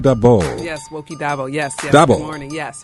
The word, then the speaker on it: Daboh: Daboh. Good morning, yes, Wokie Daboh. Emphasis on the first syllable.